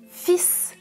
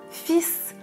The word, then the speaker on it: fils: les fils fils fils dans le premier exemple attention je ne prononce pas le "l" oui c'est irrégulier mon